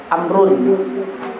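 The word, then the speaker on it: عمرو: Kalau ada wawnya itu bacanya a. Amrun. Kalau tidak ada wawnya dibaca Umar.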